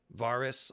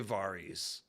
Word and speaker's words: Varys: do you pronounce varys varus i usually say varys myself varus is kind of weird varys this doesn't sound like a name varies sounds like a name so yeah melis that's